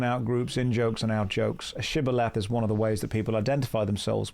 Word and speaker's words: shibboleth: There's an interesting word type called a shibboleth.